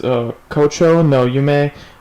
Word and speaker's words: 胡蝶の夢: So the name of this album is Kocho no Yume Ju no Yuro, which means Phalaenopsis Dream, 10 Nights. It's, I guess, a type of flower, Phalaenopsis. Phalaenopsis Dream, 10 Nights. Anyway, Kocho no Yume Ju no Yuro is by a group called Audace.